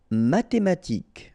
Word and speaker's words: mathématique: Mathématique, remember, H doesn't exist, so mathématique. Remember, Q-U-E at the end, K.